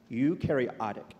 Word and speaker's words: eukaryotic: Erica, as the co-founder and an Arch Grants winning life science startup that leverages, I'm going to work on this pronunciation, Eukaryotic. Say it again. Eukaryotic.